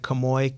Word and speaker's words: Kemoy: Kemoy, KEMOY _. I have to spell it out for you because my name's unique.